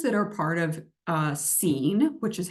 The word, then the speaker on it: C3EN: Health disparities researchers that are part of uh scene which is how you pronounce our acronym and so we're starting with